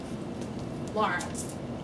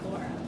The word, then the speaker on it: Lara: But, yes, so, my name is, Lara, not Laura.